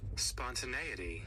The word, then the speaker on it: spontaneity: And I get to look at how it's pronounced and what it even means. Spontaneity.